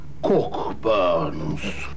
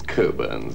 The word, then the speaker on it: Cockburn's: a glass of Port cork Burns not cut it's coburns actually we don't pronounce the CK cool Birds so that